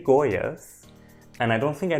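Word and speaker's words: Goiás: would be to say goish but I do know that in Brazil I think unless you're from Rio you don't pronounce the S at the end as a sh so I'll just say goas and I don't think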